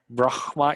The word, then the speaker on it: Brahma: B-R-A-H-M-A. Okay. B-R-A-H-M-A. So you pronounce it B-R-A-H-M-A, yeah.